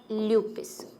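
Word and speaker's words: lupus: ल्यूपिस भी, इसको कुछ लोग ल्यूपस भी बोलते हैं, है ना, ल्यूपिस।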